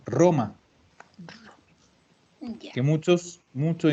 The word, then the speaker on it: Roma: igual que en español si yo tengo una palabra que empieza con r también la pronuncia dura roma aunque muchos muchos y